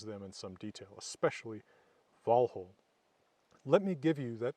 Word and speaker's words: Valhǫll: Old Norse form so I'll say for instance vhole not Valhalla glamer not not glimer